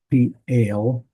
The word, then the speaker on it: Piel: So this is pale. That's how you pronounce that.